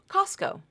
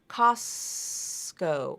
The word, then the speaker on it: Costco: it's pronounced just like Costco Costco that t is gone so that's your rule